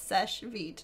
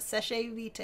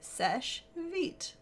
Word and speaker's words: Seche Vite: feed it's just yeah it's Seche vite it's not sachet vitae it's French it just means quick dry and it's Seche vite very good anyway yeah